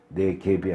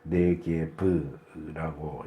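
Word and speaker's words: 네게브: 볼 때는 잘못된 표기에요 내 갭이 아니고 내 귀에프라고 읽는게 정확한 발음입니다 곧 4개의 지역에 있는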